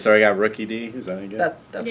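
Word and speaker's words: Rookidee: right, so now we're going to have him try and pronounce Pokemon All right, names. so I got Rookie D.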